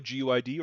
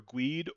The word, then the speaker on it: GUID: Workflow GUID or GEID or GUID I different ways of pronouncing it.